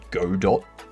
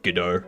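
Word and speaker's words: Godot: So, a lot of people pronounce it GDAU with the silent t uh because it was named after the uh French play Waiting for GDAU. Um there are people that pronounce it God do.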